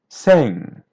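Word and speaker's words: cem: Here's letter M. Sounds like a white N. Sing.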